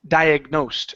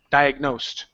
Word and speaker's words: diagnosed: the word is pronounced diagnosed stress on the end diagnosed diagnosed there you go good